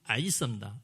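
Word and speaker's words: عيسى: 예수를 전형적으로 이 아랍 무슬림들은 뭐라고 얘기하냐면 아랍 발음은 아이사입니다. 아이사. 보통 이제 사람들 이사라고 하거든요. 근데 아랍어 원래 발음은 아이사입니다.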